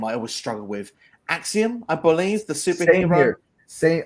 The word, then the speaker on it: Axiom: But yeah, you said it right. It's Axiom. Axiom.